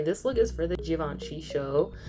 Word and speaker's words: Givenchy: And I always be wanting to say it like Givenchy instead of like Givenchy. I don't know if you can hear the difference, but like a J instead of like a G, because I hear it both ways, and I feel like the J pronunciation seems like it's better, but whatever.